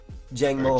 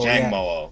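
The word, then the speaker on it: Jangmo-o: Jang Mo. Jang Mo.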